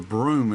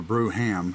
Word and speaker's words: Brougham: I've inherited a very rare 1927 Elcar model 882 Brougham, and or Broom is actually how it's pronounced, but or Brougham, either way.